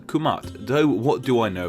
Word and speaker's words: Kemet: During the Old Kingdom of Egypt, the country was simply called this, which is now pronounced as Kemet or Kermit, but it's believed that in ancient times it was pronounced Kumat, though what do I know about pronunciation?